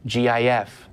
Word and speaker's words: GIF: things when there's a controversy over how to pronounce those things. It's not Jif.